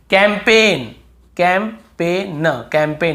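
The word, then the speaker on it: campaign: हमें याद रखना है कैंपेन कैंपेन कैंपेन यहां पर भी जी साइलेंट है कैंपेन फॉरेन बहुत से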